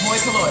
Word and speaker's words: hoi polloi: Hoi polloi. Yeah. All right. Hoi polloi.